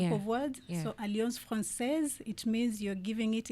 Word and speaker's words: Alliance Française: Most people call it Alliance Française.